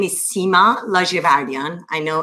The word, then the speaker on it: Ladjevardian: yes of course so my name is sima la giavardian i know it's difficult to pronounce but it's larger vardyan i am running to become the first woman